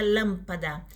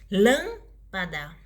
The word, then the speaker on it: lâmpada: E a palavra com a antepenúltima sílaba mais forte chama-se proparoxítona. Vamos dar um exemplo da palavra lâmpada. Lâmpada. Lâmpada.